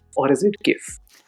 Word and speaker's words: GIF: Is it GIF or is it GIF? I think it's pronounced like the peanut butter, Giphy peanut butter.